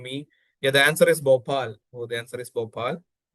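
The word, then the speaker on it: Bhopal: Yeah, the answer is Bopal.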